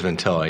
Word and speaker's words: Ventilla: I got it right right proun it as ventilla yeah ventilla that's how Italian that's how they tght it